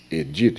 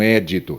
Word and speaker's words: edito: Aqui no caso das leis, porque não há o acento, é edito. Veja só, edito e não édito, é edito, porque a lei seria paroxítona. A rubrica, lembre-se da palavra cuíca.